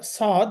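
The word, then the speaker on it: صاد: সদ পে সুই সু আমাদের মনে রাখতে হবে জহবার আগা সামনের যে নিচে নিচের দাঁতের যে অংশটা আছে দাতের আগার সাথে জহবার আগা লাগিয়ে উচ্চারণটা করতে হবে সই স সি সু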